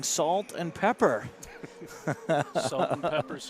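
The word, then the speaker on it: Sault: So I went through and I said salt, and they didn't correct me.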